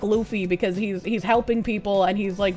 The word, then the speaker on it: Luffy: It's pronounced Luffy, but the character is not an extremist.